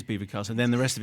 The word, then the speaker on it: Belvoir Castle: Chatsworth and Belvoir Castle, apparently that's how you say it. I can't think. Yes, it is Belvoir Castle.